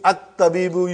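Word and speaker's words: الطبيب: You pronounce Hamza in the beginning. At-tabibu you pronounce.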